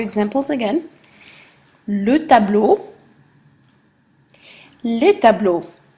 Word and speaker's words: tableaux: Notice that they're pronounced the exact same way. You do not pronounce the X, you do not pronounce the plural, but you pronounce le and les differently. Okay? Never pronounce the X for plurals.